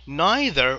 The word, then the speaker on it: neither: Oh, neither or neither, you can pronounce this as neither or neither of us realized it was art.